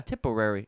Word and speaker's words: Tipperary: Tipperary. It sounds like a mixture of typical and Contrary.